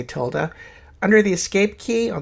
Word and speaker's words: tilde: that's the tilde key i often mispronounce it tiddly so when i say tiddly just know that i'm mean to tilde key if i want to